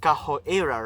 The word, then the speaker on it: Kaho Eira: And when you read EIRA's name, right, in the Japanese context or way of saying it, it's pronounced, or goes as KAHO EIRA, right? So it sounds like capoeira.